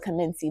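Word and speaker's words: Commense: I call it Commencey, but I think it's I think it's pronounced Commence.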